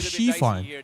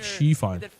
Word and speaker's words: Xifan: It's called Xifan. DRX was able to You can treat it as like SHE, like Xifan. Because X in Chinese, we pronounce it as Shi.